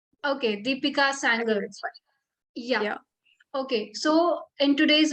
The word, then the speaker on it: Deepika Sanger: her name is deepika tell me if i'm pronouncing your name correct or not yeah it's a deepika sanger okay deepika sanger yeah okay so in today's video she will